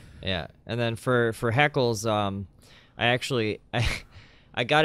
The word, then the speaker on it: HeKillz: LZ so it's he kills which he still pronounced it heckles though yes yeah I get that a lot like who's this he kills guy he kills my friend my my first